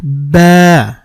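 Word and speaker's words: باء: তারপরের হরফটির নাম হচ্ছে বা এটা দুই ঠোঁটের ভেজা অংশ থেকে উচ্চারণ করতে হবে বা এক আলিফ টানতে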